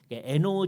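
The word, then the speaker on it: Hainaut: iut 고렇게 써 놓고 이게 불어 발음이 때문에 노라고 발음을 합니다 에노 지역의 몽스의 출신이에요 자기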